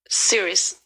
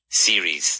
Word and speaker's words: series: Serious. Yeah, good pronunciation. Series. No, because a lot of people say serious.